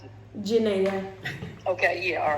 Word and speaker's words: Janayah: How do you pronounce it? Janayah.